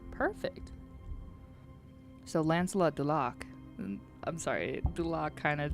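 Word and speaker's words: Lancelot du Lac: It was uh play on Lancelot Dulak, which was French. So, Dat was the correct pronounce pronunciation. Perfect. So, Lancelot Dulak.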